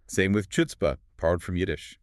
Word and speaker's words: chutzpah: But the spelling starts with a CH. In Yiddish, that CH stood for the velar fricative.